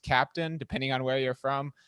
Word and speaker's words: Keptn: advocate over at dynatrace who works on the captain project i've also heard that it's supposed to be pronounced captain depending on where you're from but i'll let